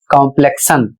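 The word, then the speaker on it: complexion: और इसे पढ़ना है कॉम्प्लेक्शन।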